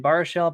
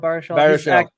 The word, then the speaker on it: Baruchel: How do you pronounce his last name? Baruchel. Baruchel.